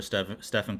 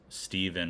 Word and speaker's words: Stephen: They called him Steven or something like that instead of Yep. Stephen Curry.